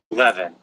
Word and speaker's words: leaven: leaven. Leaven, that's how you say it.